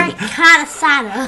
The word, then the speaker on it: carnitas: Pork carnitas.